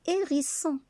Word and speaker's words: hérisson: Donc on ne prononce pas H. On dit le hérisson.